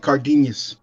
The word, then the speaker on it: Cardenas: It should be Cardenas. Cardenas. And it's pronounced like nya, so it's like Cardenas.